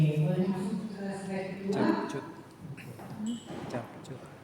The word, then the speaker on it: CapCut: Capcut. Bacanya CapCut.